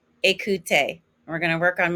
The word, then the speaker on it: écouter: And remember that ER ending is an A sound. Again, it's regarder, parler, écouter.